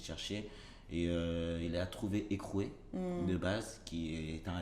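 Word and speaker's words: Heycrew: Donc, ça ne s'écrit pas écrou comme le mot en soi-même, ça s'écrit H-E-Y-C-R-E-W.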